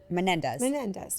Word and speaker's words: Menendez: The Menendez brothers like intrigued me. Am I saying that wrong? I feel like you guys are laughing at me. Am I saying it wrong? Menendez.